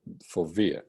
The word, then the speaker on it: fovea: a millimeter of the fovea or for via as it's pronunciated in some other authors or find hard exit